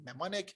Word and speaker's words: mnemonic: m and e m and i c is pronounced mnemonic it's a it's a concept in which where